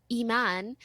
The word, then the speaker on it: Imane: like in English okay in French you read it and it's just Iman but in English I am a and E it's like i mean ii i mean i'm and i hate all of